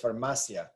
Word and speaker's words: farmacia: right here on that eye but it's not pronounced that way it's farmacia there's no need for an accent mark um